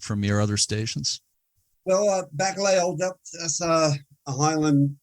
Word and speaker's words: Bacalao: Moving ahead here, your next station was Bacalao Island. Am I pronouncing that right? Yes, Bacalao. More or less, which I think comes from Portuguese for cod, It's right?